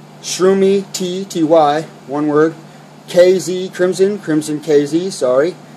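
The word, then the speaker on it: Krimson KZ: Crimson KZ, sorry. Crimson KZ, that's spelled Crimson with a K.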